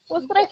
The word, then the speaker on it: Utrecht: Gimana sih bacanya? Utrecht ya?